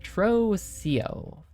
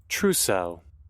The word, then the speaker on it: trousseau: Trocio. Definition. How do you pronounce this anyways? Trousseau.